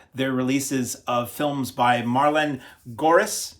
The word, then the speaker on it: Marleen Gorris: No, it's spelled Marleen Gorris, but people closer to the section of the world where she came from in the extras on this refer to her as Marlene Horace. So whichever you prefer, I think I've probably pronounced it correctly one way or the other now.